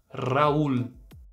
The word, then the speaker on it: Raul: comigo mas ó tranquilo Talvez o desafio maior seja a letra R tem vídeo sobre a letra R em espanhol aqui no canal e eu posso deixar o link dele no primeiro comentário fixado e também na descrição caso você queira praticar um pouquinho agora vamos repetir essa palavra comigo Raul e por fim eu